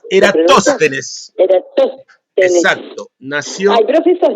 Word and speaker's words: Eratóstenes: ¿Cómo se pronuncia? Eratosthenes. Eratosthenes.